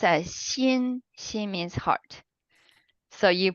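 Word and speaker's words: 心: bottom this part is also a Chinese character pronounced as Shin Shin means heart so you put more hard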